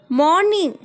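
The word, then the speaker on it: morning: सुबह हो गई, इट्स मॉर्निंग, इट्स मॉर्निंग। यहाँ पे फ्रेंड्स आपको ये याद रखना है कि मॉर्निंग में आर साइलेंट रहेगा, यानी आर आपको नहीं बोलना है, आपको बस बोलना है मॉर्निंग, यानी इट्स मॉर्निंग।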